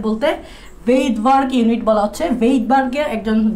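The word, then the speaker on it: Svedberg: এখানে S বলতে ভেইটবার্গ unit বলা হচ্ছে, ভেইটবার্গের একজন বিজ্ঞানীর নাম, ওনার উচ্চারণে এসটা আসে না, ওনার ভেইটবার্গ নামটা হচ্ছে এরকম, ভেইটবার্গ নামটা হচ্ছে এরকম, তো উচ্চারণে এসটা উচ্চারিত হয় না।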